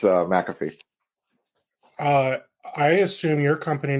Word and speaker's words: McAfee: really cool and and McAfee that's how they pronounce it yeah that's McAfee yep okay because I've always said maffy because they you always do the the short Mick when it's like that type I don't whatever yeah